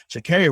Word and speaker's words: Sha'Carri: So Sha'Carri Richardson, do you think it would have been different if she had been allowed to be in the race?